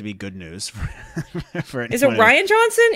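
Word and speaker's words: Rian Johnson: is it Ryan Johnson is it Ryan Johnson or Rayne Johnson how the heck do you say his name I think it's Ryan it's just he's trying to be fancy with the way he spells it of course his parents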